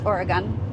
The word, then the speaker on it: Oregon: It's Oregon. Okay. Oregon. Yeah, Oregon. I say it wrong.